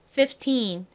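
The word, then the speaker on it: fifteen: 15 이렇게 발음이 돼요. 이 두 번째 F는 별로 존재감이 없죠. 따라해 볼게요. 15 15 한 번 더 해볼게요. 15 좋습니다. 이 teen 부분에 강조를 빡 해서 발음해 주셔야 됩니다.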